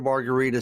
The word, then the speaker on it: Margaritis: internet that's www marguerita said my last name is spelled m-a-r-g-a-r-i-t-i-s it's pronounced like a cocktail but it's spelled like an inflammation yeah it should be